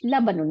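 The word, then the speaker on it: لَبَنٌ: হ্যাঁ আচ্ছা লাবানুন হ্যাঁ লাম জবর বা জবর নুনের উপর দুই পেশ লাবানুন মানে দুধ আচ্ছা ইমামুন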